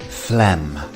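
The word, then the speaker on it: phlegm: see on screen the pH is pronounced as an f and we have a silent G so this word is quite deceptive fleem next up we have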